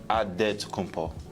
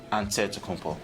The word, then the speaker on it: Antetokounmpo: In the Nigerian way, you gotta say with a D, so it's Antetokounmpo. But in the Greek way, you say with the NT, like Antetokounmpo.